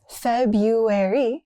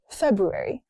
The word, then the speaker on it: February: Most drop the R. It's not February. It's February.